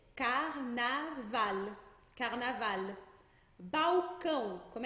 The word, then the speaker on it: carnaval: O L nunca vai ter som de U. Então, ao invés de dizer carnaval, a gente vai dizer carnaval.